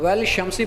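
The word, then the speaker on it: وَالشَّمْسِ: हम "वा-शम्सी" पढ़ रहे हैं। "वा-शम्सी," यानी 'शीन' पर सीधे एक तशदीद है। अलिफ़-लाम का उच्चारण नहीं हो रहा है।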